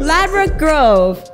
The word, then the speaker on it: Ladbroke Grove: Ladbroke Grove. Yes. And Ladbroke Grove, why are you laughing? No, go ahead. You said it right. Ladbroke Grove, yes.